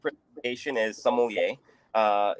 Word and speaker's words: sommelier: say it oh the the correct predication is sommelier uh it's basically a a a wine steward